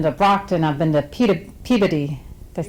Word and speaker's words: Peabody: I mean, I've been to Brockton, I've been to Peabody. Did I say that right? You pronounced it correctly?